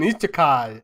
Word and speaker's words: Isekai: Well, our next podcast series is gonna be an Isekai. Is that how you pronounce it?